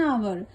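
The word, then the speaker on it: hour: उस singular noun के पहले जो साइलेंट एच से आरंभ होता है, that means you are late bye एन आवर, यानी एच जो है ये साइलेंट है।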